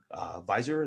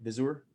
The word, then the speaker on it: Visor: Like when you went about formulating your products, Zenith, Visor, is that how you say it? Visor? Yeah, either one. It's kind of just a word I made up. I just say Visor.